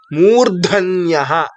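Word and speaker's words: मूर्धन्यः: Murdhanya, M, U. I have shown the same in the same manner. R, D, A. R, D, A will become Rdha. N, Y, A will become Nya, followed by Visarga. Murdhanyaha.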